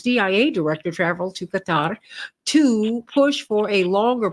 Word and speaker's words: Qatar: Indeed, several reporters in our press conferences have expressed their offense at the fact that we keep calling them Qatar. It's not Qatar, it's Qatar.